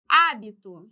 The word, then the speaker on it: hábito: sílaba tônica letra b o hábito e também é uma proparoxítona antepenúltima sílaba tônica então também vai ser